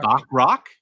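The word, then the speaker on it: Bachrach: I I Eban Moss I can pronounce. Is it Is it Bakarak? Bakar rock.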